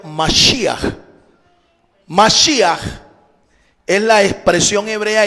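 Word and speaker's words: משיח: Se escribe o se pronuncia en hebreo Mashiach.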